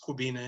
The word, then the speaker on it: Kwabena: background about me uh my name is pronounced kubina it's kubina i